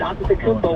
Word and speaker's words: Antetokounmpo: in it, and then you can pronounce it the way I just did, Antetokounmpo, where there's more T's and P's. That's more of the Greek version.